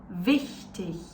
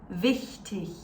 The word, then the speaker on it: wichtig: These ones with the soft CH sounds and these ones with the harsh CH sounds.